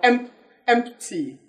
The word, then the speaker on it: empty: Now in the word empty, you can observe that P is silent in empty. You simply say empty, not empty or MPT.